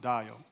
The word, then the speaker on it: Dajo: So, but this is my name. It's pronounced Dajo.